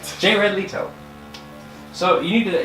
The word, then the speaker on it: Jared Leto: Leto yeah ratito j ray j bed Leto jared leto you have to say it right jared leto so you need to that you like weren't